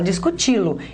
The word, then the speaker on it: discuti-lo: a gente fala discuti-lo a gente fala discuti-lo então a minha sílaba tônica é essa aqui ó a última sílaba e esta última sílaba